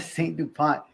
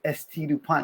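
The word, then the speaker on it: S.T. Dupont: Somebody was like, "Hey, bro, you know it's not a Saint DuPont, it's ST DuPont."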